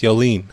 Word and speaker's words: Yoline: Well, no, you're pronouncing it wrong. It's Yoline. It's Yoline.